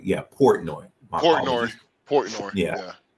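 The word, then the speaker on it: Portnoy: portoni I don't know I cannot pronounce his name I will do my best but it's Port noi yeah Port noi Port noi Port noi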